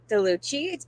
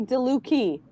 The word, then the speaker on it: DeLucchi: actually DeLucchi. DeLucchi. Okay, awesome. Thank you. CHI in Italian has a hard C. If there was no H, it would be chi.